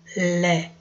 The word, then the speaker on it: lait: Avec du lait. A com I tem som de E. Então, você tem lait.